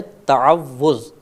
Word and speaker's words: تعوذ: مبتلا ہو جاتی ہے۔ صحیح لفظ ہے تعوذ، تفعل کے وزن پر۔